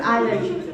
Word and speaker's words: island: Anyone here still think that island is pronounced with the S sound? Like Iceland? Actually, it's just island.